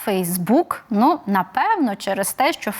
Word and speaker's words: Facebook: наголошеним на другий склад наприклад слово Facebook усі англомовні люди наголошують ну яких я чула наголошують Facebook в українській мові наголос на останній склад Facebook Ну напевно через те